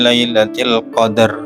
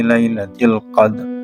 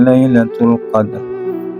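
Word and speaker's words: ليلة القدر: Nah, itu kurang tepat ya, karena di tajwid itu namanya ifa bimakna jadid, yang mana cara membacanya adalah dengan menyamarkan antara kedua huruf, yaitu dal dengan ra. Bismillahirrahmanirrahim. Inna anzalnahu fi lailatul qadr wa ma adraka ma lailatul qadr. Nah, seperti itu. Jangan dibaca Lailatul Qadar wa ma adraka ma Lailatul Qadar.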